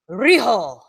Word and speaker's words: Riho: We've got a triple threat match between Nyla Rose versus, and I'm going to pronounce this name wrong, Vance. I can help you. I speak Japanese. Riho.